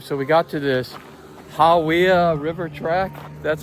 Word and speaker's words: Hawea: All right, so we got to this Hawya River track. That's how you pronounce it.